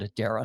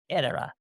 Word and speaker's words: Edera: Louis, everybody calls it Edera. So go ahead and do that because that's what the owners are doing as well. But if you want to be proper, Edera.